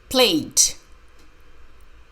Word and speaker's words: played: play play pause play played the letter e is silent is played Susan played